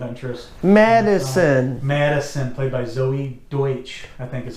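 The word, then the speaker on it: Deutch: Madison, played by Zoe Deutsch, I think is how you say it. Deutsch, yeah.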